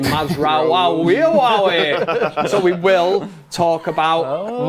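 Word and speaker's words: Mazraoui: mazra you know that I absolutely love saying mazra so we will talk about ma that's how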